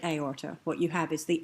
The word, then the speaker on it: aorta: You do have words like aorta, but if you look at aorta, what you have is the A followed by the O, but two distinct syllables, A or ta.